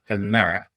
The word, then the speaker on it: Pimera: Number 5, Pimera.